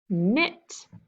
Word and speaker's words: knit: Oh, silent K. Okay, what's the root word? Knit.